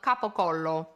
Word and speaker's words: capocollo: Gabagool comes from capocollo. But if you say gabagool in Italy, they will not understand you. If you want to be understood, you have to say capocollo.